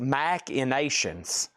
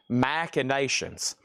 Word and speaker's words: Machinations: And we have it's pronounced Macinations. Thank you. Macinations.